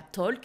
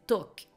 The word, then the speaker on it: talk: pas par exemple talk vous n'allez pas prononcer le l ce n'est pas talk c'est talk donc c'est sans l